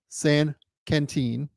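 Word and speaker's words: Saint-Quentin: Then he went and played for Quentin, my Lord, San Quentin is how you say those words, over in the French league.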